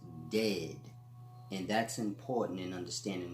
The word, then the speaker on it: Djed: but in any event the world is said is truly pronounced dead and that's important and